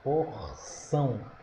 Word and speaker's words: porção: Porção. sílaba tônica é o são.